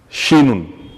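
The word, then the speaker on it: شين: Alors, la lettre shin, de son nom, se prononce exactement comme la Chine, un pays de l'Asie. Chine, Chine, Chine, de son nom.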